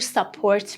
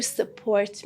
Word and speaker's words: support: For example, you say, I go first, you support me, which is the wrong pronunciation, okay? But consider the listener is a native speaker. They would seem like this look in their eyes, as if they are asking, why are you talking like that? Because the correct pronunciation for that word in that sentence was this. I go first, you support me. Support, wrong.